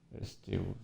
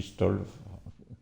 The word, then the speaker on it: STOVL: STOVL, ouais, Stovl. Stovl. Ça, c'est, moi, je dis Stolv. Je me passe le L avant le V.